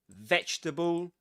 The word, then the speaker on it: vegetable: And the same applies to vegetable. You don't pronounce this letter. Vegetable.